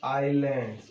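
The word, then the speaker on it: island: अब देखो उसके बाद क्या है, द ग्रुप ऑफ आइलैंड्स। इसको पढ़ेंगे आइलैंड, एस साइलेंट है, आइलैंड्स।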